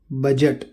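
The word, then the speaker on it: budget: Example देखिए, एज किनारा, ब्रिज पुल, बजट। इसके अलावा कुछ और शब्दों में भी डी साइलेंट होता है।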